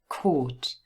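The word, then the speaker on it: caught: court chord and remember i know the spelling is very different to the pronunciation you've got a-u-g-h but it's just a long o sound chord have a look at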